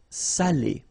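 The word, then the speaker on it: salé: because in that case it means salted okay Sally okay say say delicio say delicio okay and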